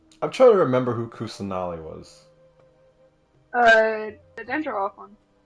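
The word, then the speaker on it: Kusanali: came from lesser Lord kulli really Lord kusali I said the name wrong oh no what you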